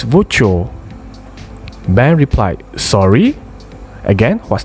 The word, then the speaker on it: voiture: It's voiture.